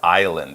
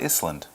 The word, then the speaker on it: island: It's spelled I-S-L-A-N-D, I-S-L-A-N-D, island. And yes, as you pointed out, it's not Iceland.